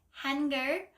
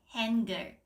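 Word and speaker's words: 한글: but then in English h n is hen so it's like hener which is not really the correct pronunciation step two know what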